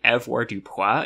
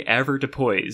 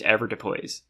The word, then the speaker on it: avoirdupois: been saying it like avoirdupois in my head this whole time, because this is like the most French-looking word, so obviously it's going to be pronounced like that. But no, it's apparently usually avoirdupois, so I don't want